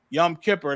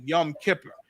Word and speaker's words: Yom Kippur: celebrating a Yom Kippur Yom Kipper that's the Yiddish uh pronunciation of our ancient Hebrew your woman caparium they call it Yom Kippur um and before we